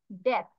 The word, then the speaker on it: death: Death. TH উচ্চারণ কি হয়ে যাবে death, হ হবে।